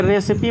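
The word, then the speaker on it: recipe: तो लास्ट में आने वाले ई का उच्चारण होता है छोटी ई, उसमें होगा, ठीक है, तो विधि होगा, विधि या, ठीक है, खाना बनाने की तरकीब।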